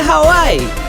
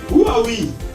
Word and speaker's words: Huawei: Is it Hawaii? That is not even a phone. It's a state in America. It's actually pronounced Huawei.